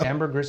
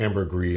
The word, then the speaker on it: ambergris: Amber Gris is it is it Amber GIS or Amber gree it's probably pronounced Amber gree and then it's referred